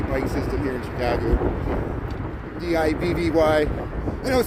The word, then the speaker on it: Divvy: D-I-V-V-Y. I know it says like some people think I'm saying Diddy bike, like P. Diddy, like a Diddy bike. No, it's Divvy, D-I-V-V-Y.